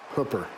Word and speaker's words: Hooper: yeah Mike Schultz will probably point it out Hooper hoer Utah the 49-year-old speaker of the Utah